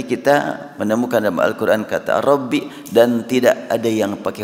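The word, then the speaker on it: رَبِّ: berdoa dengan mengatakan Robbi kalimat Robbi dibaca bi tidak rabu dalam ilmu Nahwu kalau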